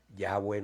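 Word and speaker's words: Yahweh: es todo para nosotros ya buen nuestro dios bendito sea su nombre el nombre en hebreo yagüe acuérdense un día hablamos de esto el nombre ya bue se pronuncia respirando ese es el nombre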